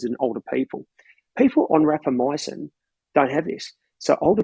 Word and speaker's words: rapamycin: you why um it's called rapper mycin um that's spelled r-a-p-a -m-y-c-i-n rapper myosin rapamycin does everything that metformin can